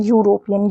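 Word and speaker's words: European: यहां पे इ का साउंड नहीं आता। यहां पे क्या आता है? ई का साउंड नहीं आता। यहां पर आता है यूरोपियन। य का साउंड आता है यू।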